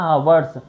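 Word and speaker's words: hour: He will take an यहां पर अ हावर्स to finish this work.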